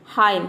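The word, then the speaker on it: hymn: example देख लेते हैं हाइम हाइम मतलब होता है भजन यहां पे देखिए हाइम एम एन एक साथ आया है तो यहां पे एन साइलेंट है डम मतलब होता है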